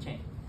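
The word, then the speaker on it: Trang: me Chang is spelled drink t-r-a-n-g but you pronounce it Mama Chang cool um yeah so she's been in the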